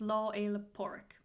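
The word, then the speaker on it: Lá Fhéile Pádraig: talk about that so patrick's day in irish is law a leporic that's how you say it if anyone porridge pork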